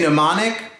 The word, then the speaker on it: mnemonic: ground M is for mnemonic can you say mnemonic but now mr.